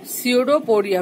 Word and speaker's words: pseudopodia: स्यूडोपोडिया, P silent है, और इसको फॉल्स फूट भी बोलते हैं क्योंकि ये एक यूनी सेलुलर ऑर्गेनिज्म है।